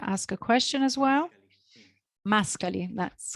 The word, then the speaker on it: Mascali: Mascali, that's correct pronunciation.